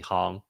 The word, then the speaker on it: Hong: You're the you're like the only person who calls me Hong nowadays. That's actually the correct pronunciation, but I gave up like decades ago.